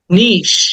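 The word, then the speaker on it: niche: মিষ্টিস মিষ্টিস ক্ষতিকর দেন the next word is নিশ আমরা এটাকে নিচি বলি নিচি অনেকে নিচি বলি অনেকে নিচ বলে বাট উচ্চারণটা হবে এরকম নিশ ইটাকে টেনে বলতে হবে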